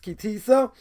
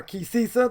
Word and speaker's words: Ki Sisa: We are holding by Parshas Ki Sisa, or Ki Sisa, depending how you want to pronounce it.